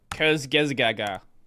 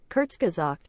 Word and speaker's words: Kurzgesagt: No one knows how to say it. Kurzgesgaga. Kurzgesagt. Yeah, exactly that.